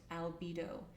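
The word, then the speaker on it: albedo: The second one is called albido and it's spelled a lb bo pronounced albido and this is called the whitening.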